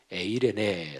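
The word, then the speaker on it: εἰρήνη: 바로 이평강 평 합니다 신약성경 헬라어 오르는 에이레네 라고 발음을 합니다 어쨌든 요 하나님이 주시는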